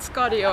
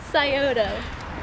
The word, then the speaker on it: Scioto: I have no idea I read scorio every time because I have no idea how it's pronounce it she's cracking now so how's it pronounced it's Scioto yeah right that's that's